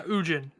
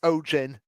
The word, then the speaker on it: Ojin: Yeah, Ujin. Ojin. No, it's pronounced Ojin, not Ujin.